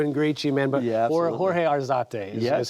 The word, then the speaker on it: Jorge Arzate: But Jorge Arzate is how you say it, correct?